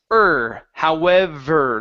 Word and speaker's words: however: Now, when you get to the sound, instead of the, it's however, like you're saying her.